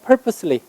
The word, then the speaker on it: purposely: 그 다음에 한 단어로 바꾸면 purposely. 얘 purpose라고 하지 마세요. 그럼 발음 잘 들을 때도 안 들려요. purposely.